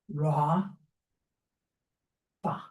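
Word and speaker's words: רפא: So this is pronounced Ra Fa.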